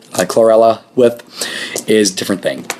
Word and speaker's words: chlorella: talked about spirulina and chlorella. I can never pronounce that one right. I always want to say cholera, which is a infectious disease and a whole different animal.